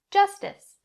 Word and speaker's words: justice: dis just dis justice if you have to say it slowly in order to get both s sounds in this word that's completely fine as long as it's clear but don't drop either because then nobody will understand what you're saying now i'm going to